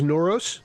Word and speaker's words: Noros: nor I give uh it's it's noros that's how you say it noros yeah I